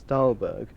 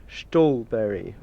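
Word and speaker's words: Ståhlberg: Actually, according to Scandinavian sources, the correct pronunciation of the player known to the world as Stalberg should be Stalberry or or something like that. But I'm sure he wouldn't have minded me calling him by his Angliciz pronunciation.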